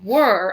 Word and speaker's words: were: This word, scholars, is were, like we were at the grocery store.